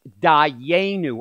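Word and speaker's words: דַּיֵּנוּ: And that word is pronounced Dayenu.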